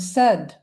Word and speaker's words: said: The and the word said. The ai there in the middle doesn't have a long i sound.